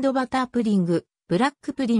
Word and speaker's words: プリン: 時代初期であるプディングの発音は日本人の耳にはポッティングやぷじんぐと様々に聞こえたがやがてプリンという発音カナ表記が定着したただ日本